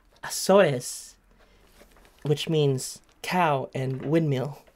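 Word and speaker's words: Açores: And it says, how do I pronounce it? Acores? Azores, which means cow and windmill.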